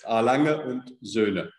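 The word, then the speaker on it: Lange & Söhne: always been a huge long longer zone fan i hope i got that pronunciation right finally wonderful and it's absolutely correct it's alanga and zuna and i know that everybody struggles with the zuna yes we do so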